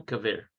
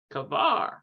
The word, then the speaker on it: כבר: Okay, so hem, I want to see what that is pronounced like. Hem kaver. Yeah. הם כבר. Kavar.